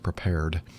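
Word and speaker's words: Prepar3D: simulator called prepare prepared it looks like it's prepare 3d but it's i guess the three is kind of like being cool so it's pronounced prepared it was geared towards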